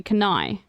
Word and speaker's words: Cannae: So it's Cannae, right? I'm saying it correctly, Cannae.